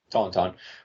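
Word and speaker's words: tauntaun: all right so okay according to wook pedia tonon pronounced Tonton were a species of non-sentient lizards native to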